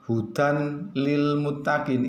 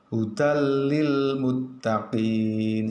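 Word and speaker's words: هُدًى لِّلْمُتَّقِينَ: cara membacanya juga sama Hudal bukan hudan lilmuttaqin itu salah, yang betul bagaimana? hudallimuttaqin seperti itu jadi tanwinnya dimasukkan kedalam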